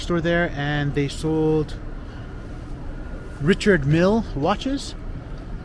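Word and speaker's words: Richard Mille: there and they sold Richard Mill watches I know some people pretend to pronounce it Richard meal so I hope I'm pronouncing that correctly I'm gonna take a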